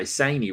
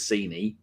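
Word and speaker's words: Sané: people say it phonetically i couldn't even say saney right until she said it was scenie terrible um fem yeah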